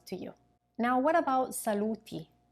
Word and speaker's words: saluti: Now, what about saluti, the form with the final I pronounced E?